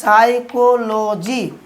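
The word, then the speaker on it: psychology: Viewers, আমরা যখন সাইকোলজি উচ্চারণ করতাম মনে রাখার জন্য আমরা এটা উচ্চারণ করতাম কি পিসি চলো যাই, কিন্তু সঠিক উচ্চারণ করেছি সাইকোলজি, এটা পিএস দিয়ে শুরু হয়।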